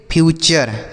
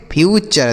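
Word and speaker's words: future: अब देखिए यहां पर बच्चों अगर किसी भी शब्द में टी यू आर इ लिखा रहे। क्या लिखा रहे? टी यू आर ई। तो इसे हम चर पढ़ते हैं।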